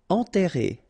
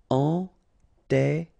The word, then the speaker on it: enterré: Enterré, okay, remember, N together, nasal, en, and then you get this double R here, and it will open the sound of the E, okay? Enterré, enterré.